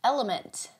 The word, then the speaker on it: LMNT: of our sponsors is element oftentimes mispronounced as lmnt it is an electrolyte